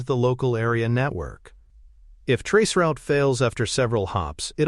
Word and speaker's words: tracert: Another important tool is spelled t r a c e r t but pronounced traceroute.